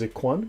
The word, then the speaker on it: Ikhwan: And the word most used is Ikhwan, brethren, right? Pronounced Khwan.